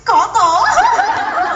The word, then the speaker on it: Cotto: Sa ating unang chika, Manny Pacquiao, pinaiyak nga ba si Cotto? Nakakatawa naman ata lahat ng mga chika mo, Quizzy. Kuto, masasabi ko lang sa'yo. Boy, it's not Kuto, it's Cotto.